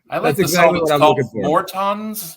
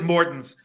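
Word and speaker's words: Morton's: find some for you more tons more tons okay a lot of a lot of people pronounce it mortens but are they okay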